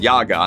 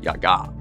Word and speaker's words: Yaga: Though these days, you're more likely to hear it pronounced Yaga in popular culture. In the original Slavic, you pronounce it Yaga.